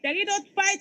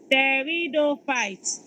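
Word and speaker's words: pteridophyte: into one Theo fight Theo fight is felted with a silent PE Theo fight and then the last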